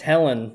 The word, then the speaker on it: Helen: which way it's pronounced it's Helen it's just Helen oh it's just Helen